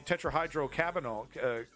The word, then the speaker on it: tetrahydrocannabinol: In addition, the tetrahydrocannabinol, cannabinoidal?